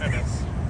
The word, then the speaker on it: Ennis: It's not pronounced Enos. It's pronounced Ennis, Texas.